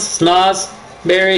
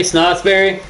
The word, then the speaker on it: Snotsberry: It's not snoz, it's snots. Do you hear how similar it sounds? Snozberry, Snotsberry.